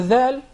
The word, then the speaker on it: ذ: The tip of the tongue, this specific part, the tip of the tongue, yes, with the lower edge, the lower edge of the top front incisors. This is the dhal, And it is best